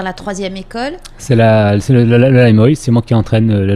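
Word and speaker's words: Lai Muoi: C'est le Laimoy, c'est moi qui entraîne le Laimoy.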